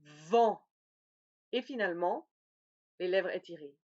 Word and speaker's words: vent: Attention, regardez bien comment ça s'écrit. Ça va? Donc le premier, c'est le O, vont. Le deuxième, le A, vent.